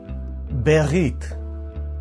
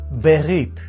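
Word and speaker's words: בְּרִית: Berit. Berit.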